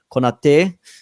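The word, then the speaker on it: Konaté: And again, if your centre backs can remain fit, or if you can have a fit Van Dijk and Konate, that's how you pronounce his name.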